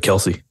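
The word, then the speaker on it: Kelce: so I'll sound stupid k-e-l-c-e you know I pronounce this last name uh Kelsey yeah it was a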